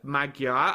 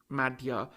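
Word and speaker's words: Magyar: Early this week, the government led by Peter Magua. I'll say Magua. I think the Hungarians pronounce it maga. Um, but it's written Magua. It's Magaro is the the the the English way of pronouncing um the word.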